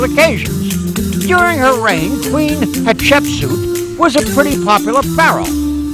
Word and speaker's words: Hatshepsut: boy it was queen hatshepsut and if you say her name quick enough it kind of sounds like hot chicken soup at least that's the